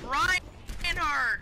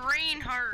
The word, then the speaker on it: Reinhardt: It's Reinhardt, not Reinhardt. We pronounce it different names, noob.